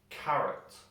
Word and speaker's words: carrot: guess where it is carrot carrot now we put the stress of the word in the a ca and the o we kind of jump over we don't pronounce it carrot if we